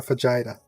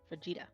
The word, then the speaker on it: fajita: A vagina. Say it right. No, fajita, Vagina.